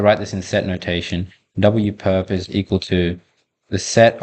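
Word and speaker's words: W⊥: So this symbol, right, W raised to the power of a perpendicular looking symbol, which you can pronounce as W perp, or at least that's how I pronounce it, is the orthogonal complement of a subspace W.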